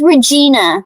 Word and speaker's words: Regina: It is Regina.